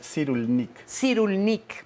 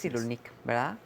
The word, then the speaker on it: Cyrulnik: estoy tratando de aprender cómo se dice el apellido es boris cyrulnik boris cyrulnik bueno pues este nos